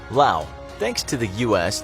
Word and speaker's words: Laos: Laos. Thanks to the US, the country of Laos, pronounced without the S, can say it's the most bombed country in the world.